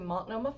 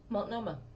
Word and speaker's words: Multnomah: We could see, we could go up to Multnomah Falls, which is gorgeous.